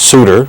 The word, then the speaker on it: Souter: I've also been told that the justice's name is pronounced Souter, so I'll apologize to Justice Souter for mispronouncing his name.